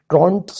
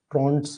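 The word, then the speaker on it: Trouton: Goldberg ने बोला था इसी तरीके से आपको ट्रॉनस रूल भी एक पढ़ा जाता है जिसका नाम है ट्रॉनस rule T आर ओ यू एन टी ठीक है ओ एन एपोस्ट्रोफे ट्रंस ट्रॉट्स बोला जाता है साइलेंट है ट्रॉट्स रूल भी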